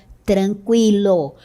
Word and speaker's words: tranquilo: E agora todas essas palavras são escritas desta forma, sem o trema, 50, linguística, consequência, frequência, tranquilo. Note que a pronúncia continua sendo a mesma com o u.